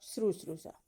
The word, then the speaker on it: शुश्रूषा: Option दिया हुआ है शुश्रूषा, शुश्रूषा, शुश्रूषा और शुश्रूषा। तो ये डी वाला तो पहले ही उच्चारण में ही गलत दिख रहा है, और